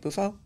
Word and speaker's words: Bufo: I had some seriously bad trips with Bofu. Oh. Is that how you say it? Bufo? Bufo, yeah.